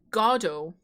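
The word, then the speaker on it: Godot: Oh, his name is pronounced Godo.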